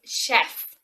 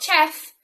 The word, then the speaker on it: chef: Another good example of this is chef, not chef, chef.